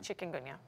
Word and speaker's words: Chikungunya: And we pronounce it chicken. Chikungunya.